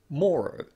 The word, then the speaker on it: morrow: We've also included the word morrow on this chart because it similarly uses the lot vowel followed by er. However, in some accents, this word is pronounced morrow using the north vowel.